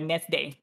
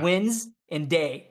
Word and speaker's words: Wednesday: he's from spain so he goes with net day with wednesday all the time i can see how you might genetically read it that way i was like antonio i swear to god i'm gonna take your ass to school if you don't say wednesday just say wins and day that was like no